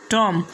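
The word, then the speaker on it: tomb: Silent रहेगा। जैसे पहला वर्ड्स लिम, दूसरा वर्ड है कॉम, तीसरा वर्ड है टॉम और चौथा वर्ड है बॉम्ब, इसके बाद में थम, उसके बाद में क्लाइम।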